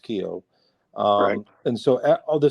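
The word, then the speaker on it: Kiyo: released the first song uh I call it Kio K well that's how it's pronounced it's my okan stepmother who passed during Co k i yo but it's it's pronounced Kio um and so all the seven songs I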